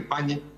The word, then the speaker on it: Pagni: Sí, el invitado es muy prestigioso, su nombre es Carlos Pagni, o Pagni, yo le digo Pagni pero en italiano se dice Pagni.